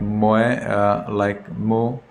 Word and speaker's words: Moe: Check Moe, M-O-E, Mo. Proper pronunciation is Mo.